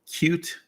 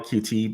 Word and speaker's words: Qt: with a graphical user interface called cute um I call it QT but most people call it cute um it's spelled QT it's a graphical user